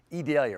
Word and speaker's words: Idalia: Cyclone become a tropical storm and then eventually a hurricane, and it's going to be named Idalia. That's how we're pronouncing it, Adalia or that's how we've been told to pronounce it.